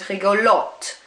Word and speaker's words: rigolote: Gentil is pronounced the same, whereas rigolo now becomes rigolote. You pronounce that T.